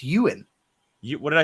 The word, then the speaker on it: Ewan: Is it not Yuan? No, it's Ewan. What did I say? Yuan. Did I say Yuan? Ewan. Yeah, it's like Ian, but Ewan.